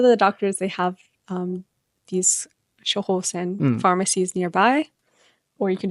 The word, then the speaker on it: 処方箋: Is it shohosen?